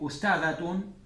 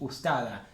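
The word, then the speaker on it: أستاذة: En la calle se habla mucho así. Ustada. Se quita esto. ¿Por qué? Porque es más fácil no pronunciarlo. Porque si no tienen que pensar, uy, ¿es sujeto, objeto directo o objeto indirecto? Y de esa otra forma se ahorran esa pronunciación.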